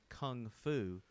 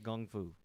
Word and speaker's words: kung fu: They pointed out in that film that it is, in America, we say kung fu, but in China, it's actually kung fu, like with a G, like Gung KG.